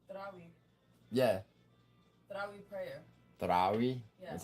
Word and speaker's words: Tarawih: the last time you went to Tarawih? What's it called? Tarawih. Yeah. Tarawih prayer.